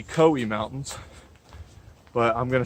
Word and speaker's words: Cowee: I haven't seen a pronunciation for that. It might be Cowee Mountains, but I'm gonna say Cowee for the rest of the video.